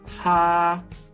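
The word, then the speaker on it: 她: Here we have the radical for woman, but the pronunciation is the same as he. So we have 他他 Then we have the plurals.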